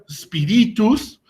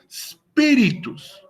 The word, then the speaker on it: spiritus: Es decir, que en la palabra spiritus, el acento tónico lo colocaremos en la siguiente sílaba, que sería la antepenúltima. En spi, ahí vamos a poner nuestro acento tónico. Por lo tanto, no se pronunciaría como spiritus ni spiritus, sino que se pronuncia como spiritus.